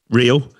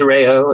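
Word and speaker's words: Reo: A dream debut for Rio, but his name is pronounced Rayo, I'm told by my Japanese friend. It is Rayo. It is, look, the R is hard to get, and I think that's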